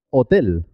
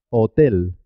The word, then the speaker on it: hotel: en español también porque se escribe pero no suena no tiene ningún sonido es muda por ejemplo hotel hotel halcón cohete hospital la h no suena es muda la h hay que